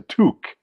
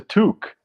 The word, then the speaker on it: toque: know the Canadian word for Beanie yes a toque it's a toque I learned that recently because my friend Judith uh mocked me for calling it a to it's spelled to but it's pronounced toque apparently take my palala take my pal oh